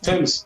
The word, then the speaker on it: Thames: You don't pronounce the TH. It's T. It's a T. Thames. Thames.